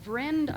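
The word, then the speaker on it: Vriend: the paper um it's called vrend i believe that's how you pronounce it v-r-i-e-n-d and gala that's the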